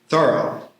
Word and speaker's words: Thoreau: Wallace Stevens and I will add Theorough to the Thoro to the list. That's how he wanted it pronounced.